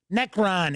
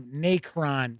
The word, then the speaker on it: Necron: world of darkness so callahan says it's always pronounced necron instead of nacron see yeah that's what i thought but i've i've heard other people say nakron i'm not a i'm not a 40k person